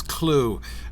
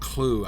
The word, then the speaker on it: Clough: actually it had a pronounced clue I think it's clue it could be cloth for all I know but it's from the anglo-saxon word coal so I think it's I think it's probably clue rhymes with Slough right SL ough meaning like